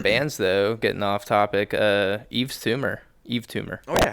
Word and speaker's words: Yves Tumor: Eve Tumor. If you guys have not heard Eve Tumor, I'm about to put you on. Spell it. They are probably because it's spelled. Y. Yep. Yeah, it's spelled super fucking weird. YVES Tumor. TUMOR.